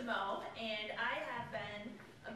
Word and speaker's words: Mau: And this is probably not a surprise, but you're not the first person that hasn't pronounced my name correctly. So I'm really used to it, not a problem. As she said, my name is Mo, and I have been